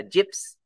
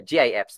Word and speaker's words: GIFs: links images videos uh gyps um or gifs i said some people would um use um pronounce it that way another content in social